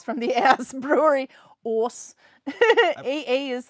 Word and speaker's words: Ås: Ordal or in Ås, a double A is like the same as with A with a circle over, and it's pronounced O, like the Minnesota O. So Ås.